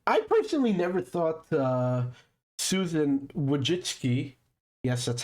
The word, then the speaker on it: Wojcicki: And I personally never thought Susan Wojcicki, yes, that's how you say her name apparently.